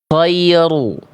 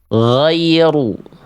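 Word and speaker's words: غير: Ghoiru. Mana pelafalan yang lebih tepat? Ya, yang A, yang B, yang C, yang D. Coba, yang mana? Yang betul adalah yang yang D.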